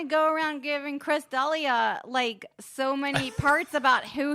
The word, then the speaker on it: D'Elia: Chris D'Elia like the Black Dahlia.